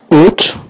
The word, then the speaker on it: ought: Ought. Vous prononcez ought. Ne prononcez pas tout ça. Vous prononcez juste ought. Comme ça. Ought.